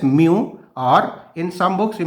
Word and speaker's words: mu: index refractive index symbolically it is mu m e w pronounce it as mu or in some books